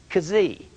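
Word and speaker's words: xi: Then you have a X, but it's actually pronounced K-S-E-E, kazee. You say, well, that don't make any sense. What if I said kazylophone or xylophone? It's pronounced like a Z or kazee, a K and a Z, kazee.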